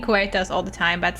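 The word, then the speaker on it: Coerthas: Wait, you were supposed to pronounce it Curtus or something. Co. I've been saying Kuetas all the time, but at some point they said Curtus or something.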